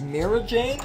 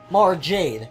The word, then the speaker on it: Mara Jade: Luke, the daughter of Obi-Wan is Mira Jade, or Mira, I don't know how you pronounce it. Mara Jade? Mara Jade.